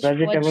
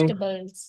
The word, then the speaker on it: vegetables: Fresh Fresh vegetables. vegetables. Fresh vegetables. Did I tell you that this E is silent after G? Vegetables. Yeah. This E is silent after G, okay? So it is vegetables.